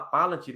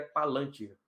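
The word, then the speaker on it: palantír: Então, eu tenho o costume de falar Palantir, mas o certo é Palantir.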